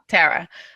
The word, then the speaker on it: Tara: It was, oh gosh, Tara with like a short A. Tara.